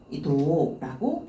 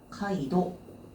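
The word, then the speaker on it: 街道: 이 넓은 대로를 이제 카이도라고 읽어주시면 돼요. 그럼 여기는 지금 가도라고 들어가 있죠. 넓은 길이에요. 앞쪽에 들어가 있는 넓은 길이구나. 카이도.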